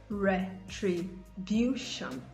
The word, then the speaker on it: retribution: Words ending in SION and TION, the shon sound. The stress is usually placed on the syllable before the last, as I said earlier. So you have extension, extension, retribution, retribution.